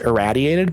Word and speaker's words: irraddyated: For my name, it's pronounced erradiated, but I've heard a million different pronunciations.